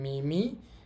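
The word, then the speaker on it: 耳: কানের আকৃতির সাথে মোটামুটি মিল আছে এবং এটার উচ্চারণ হবে মিমি আর জি আমাদের পরবর্তী কাঞ্জিটা হচ্ছে হাতের কাঞ্জি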